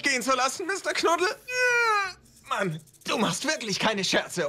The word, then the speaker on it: Mann: Make sure to open your mouth on the A here. Ja, Mann. A.